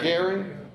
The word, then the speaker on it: Göring: He still had some hope in Göring, or Goering, how would you pronounce it? Goering, as a possible successor to Hitler.